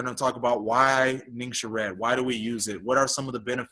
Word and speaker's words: Ningxia: might hear some people refer to it as ninja juice it's actually pronounced Ningxia but you'll feel so good from taking it